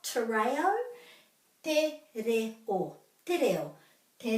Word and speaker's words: te reo: So if we remember to put a break after every vowel, that's the key. Te. And then this is re. Te re o.